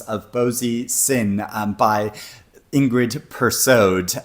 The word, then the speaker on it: Persaud: It is The Lost Love Songs of Boysie, Singh by Ingrid Persaud. And yes, you do pronounce the D in Ingrid Persaud's name.